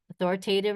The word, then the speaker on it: authoritative: Authoritative, remember, rhymes with give.